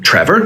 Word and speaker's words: Trevor: a verb here even in my name trevor we've got two syllables trevor one of them is a strong syllable one of them is a quiet syllable now the final two